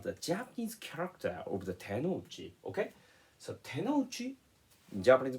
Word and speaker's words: tenouchi: So today, I will explain the correct meaning of the tenouchi.